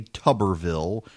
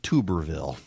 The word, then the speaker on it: Tuberville: to five and no I don't feel the need to say Tuberville instead of Tuberville I mean pronunciation Nazis call in you're saying it wrong you people can't say